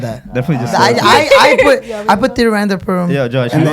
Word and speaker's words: Tiruvananthapuram: I don't know how to pronounce Tiruvananthapuram. Oh yeah, that's correct.